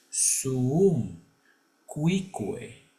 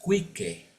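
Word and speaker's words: suum cuique: una por una bien Por eso es suum cucue no es Quique porque en el latín todas las letras se pronuncian cu tribuere y esto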